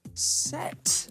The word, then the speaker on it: sept: We have to watch out for silent letters in French. We've already had them in deux, trois, and sept.